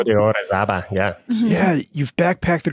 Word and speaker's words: Pico de Orizaba: I don't even know how to say it, Orizaba in Mexico? Pico de Orizaba, yeah.